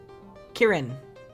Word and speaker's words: Kieran: come on where is it pronounced kirin kieran okay kieran yeah yeah kieran like the name now the flowers will